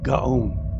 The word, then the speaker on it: Gaon: Gaon.